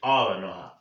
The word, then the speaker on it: Aaron Ra: as I just learned, the correct way to pronounce his name is Aaron Ra.